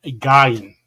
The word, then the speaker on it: Guion: problem with, guys, because there's different ways you could pronounce it. And it's Ethan Gyan. So, and there's another way to pronounce that, and we're going to go with that.